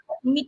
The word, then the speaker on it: Miquel: Yes, and si Miquel, do I pronounce it right? Miquel.